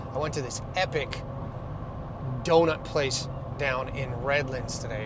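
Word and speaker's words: Deaux: I went to this epic doughut place down in Redlands today. It was called D E A U X, but the X is silent.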